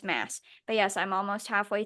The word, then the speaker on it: Maas: The last time I mentioned her, I learned that I was saying her last name wrong. So yes, apparently it's Mass.